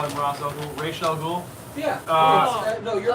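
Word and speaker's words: Ra's al Ghul: going to see I refuse to call him razel ghoul yeah no you're pronouncing it right thank you thank you for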